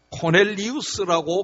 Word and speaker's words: 고넬료: 사람들이 그 사람을 흠모해서 이 고넬료라고 하는 이름을 따서 자녀들의 이름을 많이 지었는데 요즘은 코넬리우스라고 그렇게 발음하지요.